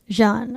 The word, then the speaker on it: Xian: A man named Christian Albert Gaza, also known as, how do you say Xian as a name? Jean, okay.